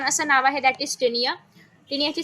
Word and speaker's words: Taenia: हां, टॅपवर्मला खूप छान असं नाव आहे, दॅट इज टिनिया. टिनियाची स्पेलिंग आहे TAENIA.